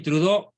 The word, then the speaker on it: Trudeau: pero digamos castellanizado Justin trudó trudeau con doble es el diptongo francés más frecuente true de se pronuncia Justin trudo una tremenda amenaza desde